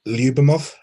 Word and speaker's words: Lyubimov: joined by uh Misha I hope I'm pronouncing this correctly uh lubemov that's right yeah okay I'm normally terrible